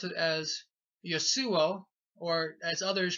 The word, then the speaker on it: Yeshua: But so, and his name was, I would pronounce it as Yeshua, or as others pronounce Yeshua, and various other pronunciations, Yehoshua, etc.